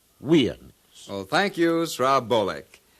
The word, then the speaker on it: USA: Now we know that Usans is incorrect, and the symbols USA are properly pronounced Weans.